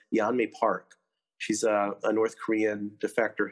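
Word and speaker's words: Yeonmi Park: had given with, I think her name is pronounced Yanmi Park.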